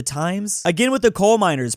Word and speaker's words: Thames: Like your river, the Thames River, the Times.